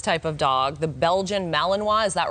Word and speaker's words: Malinois: Okay, so obviously this type of dog, the Belgian Malinois, is that right?